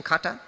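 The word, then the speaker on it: kantha: cutta cutta cutta cutta correct pronunciation cutta cutta means the kata means old cloth all the old saris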